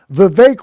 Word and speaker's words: Vivek: Vivek Rhymes with Cake offered to return 10% of contributions to those who donated to his campaign.